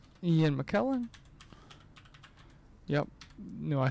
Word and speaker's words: McKellen: Mine right now is, I don't know why Shakespeare showed up just now, but I remember it's Ian McClellan.